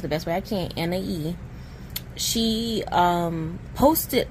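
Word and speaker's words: Anahí: But one of the members, I think her name is pronounced Anhahí. Like I said, I pronounce it the best way I can, Anhahí.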